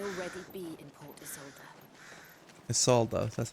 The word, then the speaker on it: Isolde: Isolde, that's how you pronounce it.